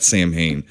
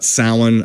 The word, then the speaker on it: Samhain: snotty or smoothie but it's salad it's not Samhain so a lot about it's a lot about salan a lot about the Druids a lot about